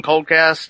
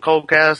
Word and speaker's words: Koldcast: Obviously, you've mentioned that you've put the show on Coldcast instead of like other, like YouTube or something. Were there benefits or kind of things that led to the decision to put it on Coldcast instead of YouTube as your primary hosting site?